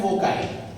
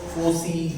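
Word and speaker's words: foci: तो उसको बोलते हैं फोकाई। ओके, फोकाई या तो फोसी, whatever the pronunciation, but that is the plural of फोकस, बराबर है बच्चों?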